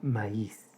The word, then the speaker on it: maíz: Y finalmente, la palabra maíz. 2 sílabas.